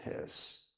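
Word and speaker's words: Höss: His name was Rudolfph his you know it looks like when you read it it looks like H but in German the umlau the two dots over the O it's pronounced his.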